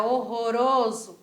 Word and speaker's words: horroroso: é horroroso para horroroso olha só essa pronúncia é como é diferente é inscrito igualzinho horroroso só que a gente aprendeu que o r Ele sempre vai ser vibrante seja ele sozinho ou seja ele junto então ao invés de ficar